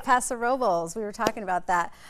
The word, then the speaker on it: Paso Robles: You said it right, Paso Robles.